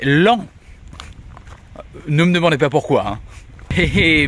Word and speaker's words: Laon: Alors oui, cette ville qui s'écrit Laon ne se dit pas Laon mais l'an.